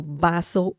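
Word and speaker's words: vaso: bring un means a baso remember the V sound in Spanish is similar to the English sound b as in Bell so baso baso if you say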